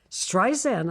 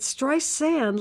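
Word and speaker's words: Streisand: complain exp about how Siri pronounced her name strian I said my name is with a z it stri sand like sand on the beach now how simple can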